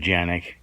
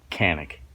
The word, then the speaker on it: Canik: It's pronounced Canik. Probably more like Canik. Phonetically, it's Canik.